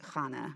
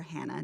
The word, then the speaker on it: Hannah: called about a woman named chana or hannah depending on how you pronounce it it's recounted in the